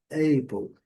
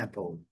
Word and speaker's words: apple: Nós vimos aqui o símbolo da letra A, curta, lembrando que o som da letra A longo é o E. Inclusive, algumas pessoas ainda pronunciam Apple. Erradamente, a pronúncia correta é Apple, Apple ou Apple. Em algumas regiões, um pouquinho mais puxado para o lado do A, em outras mais puxado para o lado do E. Apple, Apple.